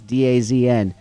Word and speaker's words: DAZN: It's pronounced DAZN. It's DAZN.